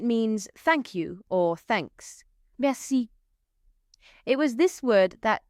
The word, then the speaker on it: merci: Merci. It was this word that taught me something useful in French and that is that you always emphasize the last syllable of any word.